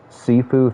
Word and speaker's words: Sifu: level is going to be like how's it pronounced sifu thank you dude there's a lot of [